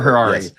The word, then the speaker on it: Harari: He he's the brother of um, I forget Robert Harrari. Rhymes with Ferrari. Like Ferrari with an H.